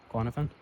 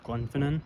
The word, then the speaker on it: Glenfinnan: Glennifan or No, I keep saying it wrong. It's Glen Glenfinen or something like that.